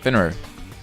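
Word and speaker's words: Fenrir: Finrir.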